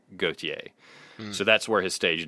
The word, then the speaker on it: Gotye: Walter, and the name Gotye was a nickname given to him by his mother, which is based on the French equivalent, which looks like Gauthier, but it's probably actually pronounced closer to Gotye.